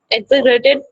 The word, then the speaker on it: exaggerated: Exaggerated. वाह, जिसको जैसे जैसे जैसे कर दो। एग्जैगरेट करना, जी साइलेंट होता है, डबल जी बोला जी नहीं करना है, एग्जैगरेट करना, ठीक है।